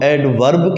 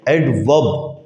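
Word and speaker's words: adverb: پہ ہے ایڈورب freeze. Pakistani لہجے میں اس کو ہم ایڈورب کہتے ہیں، ایکچولی حقیقتاً یہ ایڈورب نہیں ہے، ایڈورب، آر خاموش ہے اس میں۔ کیا کہتے ہیں اس کو؟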